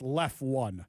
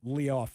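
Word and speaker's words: Leftone: He says it's just left one, not Leoff or whatever I said before.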